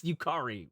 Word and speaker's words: Yukari: Why did I say that wrong? It's Yukari.